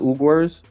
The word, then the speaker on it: Uyghurs: It's spelled weird, but it's called the Uyghurs.